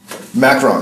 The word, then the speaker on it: Macron: Macron.